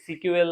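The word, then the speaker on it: SQL: এটাকে প্রায় সিকিউএল হিসেবে উচ্চারণ করা হয়।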